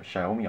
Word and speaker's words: Xiaomi: Box oder wie mir letztens gesagt wurde wird's xiaomi ausgesprochen natürlich wird das Ganze wieder gesponsort von tradingasen.de